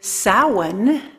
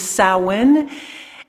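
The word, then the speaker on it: Samhain: seasons summer and winter and winter starts with sowen it's uh spelled Sam Hayne but uh though the pronunciation is sowin and that was considered the beginning of winter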